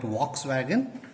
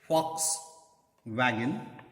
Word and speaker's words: Volkswagen: We call it Volkswagen. The original pronunciation is Volkswagen, known as people's car, manufactured in Germany.